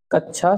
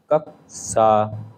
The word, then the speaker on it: कक्षा: अगला प्रश्न है कच्छा शब्द का शुद्ध उच्चारण है ए कच्चा, बी कच्छ, सी कक्षा, डी कक्षा। इसका जो शुद्ध उच्चारण शुद्ध रूप है कक्षा का वह है कक्षा।